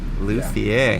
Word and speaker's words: luthier: like the best in the district and uh luthier luthier that's how you say it i did